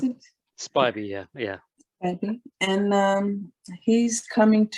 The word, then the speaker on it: Spiby: that how you pronounce it? Spiby, yeah.